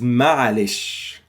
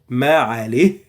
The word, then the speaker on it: معلش: And with time, this ha became even a burden and difficult to pronounce. So Egyptians just say معلش without the ha, and also it's understood.